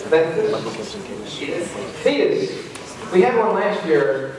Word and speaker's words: Thetis: Thetis.